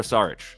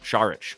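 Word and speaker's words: Šarić: last pick here Dario sarich shich excuse me that's how you do pronounce it shich he does have props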